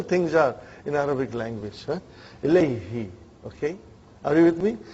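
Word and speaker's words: إليه: way you make your mouth, you know, muscles in your mouth. Ilayhi. It takes extra effort. And even also, it doesn't sound nice to the ear. So, who became now pronounced Ilayhi. You can pronounce with ease, you know.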